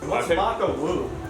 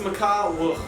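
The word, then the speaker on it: Maka Wuhu: Maka woohoo or as I thought it was pronounced Mak wo Mak woo W it's pronounced MAA wo we then discovered that here everyone has the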